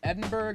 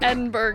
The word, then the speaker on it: Edinburgh: My brother was just telling me there's like more syllables than you think. It's not spelled borough, it's b u r g h.